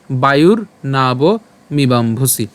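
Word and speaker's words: বায়ুর্নাবমিবাম্ভসি: আছে প্রজইয়াং এরপর বায়ুর এখানে যে রেফ আছে র হসন্ত আকারে আমরা এটাকে উচ্চারণ করব তাহলে কি উচ্চারণ হবে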